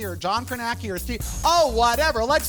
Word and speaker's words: Kornacki: or is it steve karnaki or john kernacki or steve oh whatever let's see who won the dorians take it away hi everybody steve kornacki which rhymes with khaki which is what i'm